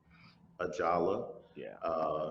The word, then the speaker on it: Ajala: I don't want to mispronounce the name of your uh, series. Ajala. Ajala, Yeah, that's and his leg original, there.